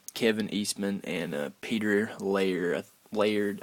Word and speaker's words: Laird: Laird, I think is how you pronounce his name. Layered, I do believe, and they came up with a comic book.